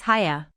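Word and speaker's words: Haigha: happy his name is haya he pronounced it so as to rhyme with mayor i love my love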